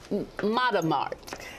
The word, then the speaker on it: Matamart: me say it right sarah galloway here correct mother mart yes our business name is matamata and it